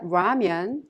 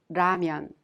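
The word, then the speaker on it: 라면: when you pronounce diamond it's not ramyun or lamian it's ramyun well at this time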